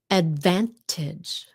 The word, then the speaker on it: advantage: The reason why that the T is not uh like that is sometimes you hear a little bit of it and sometimes you don't in English conversation. Very often we swallow that tea up.